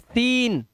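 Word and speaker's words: scene: सी silent साइंस, सी silent seizures, ठीक है, सी silent discipline, सी silent muscles, सी silent, सीन।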